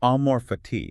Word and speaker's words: amor fati: So the central concept, it's a Latin phrase, amorphati. Amorati. It's spelled A M O R F A T I. And you'd say it, amorph. That's it. Amore fati.